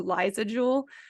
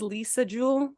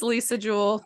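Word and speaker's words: Lisa Jewell: want to call her Liza Jewel her name is Lisa Jewel it's spelled like Lisa so I think it's probably pronounced Lisa but in my head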